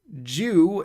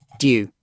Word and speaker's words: dew: Dew. Yeah, that's American. British pronunciation. Why can't you give me a fucking... See, we say Jew. Not do. Do. Here we call it do.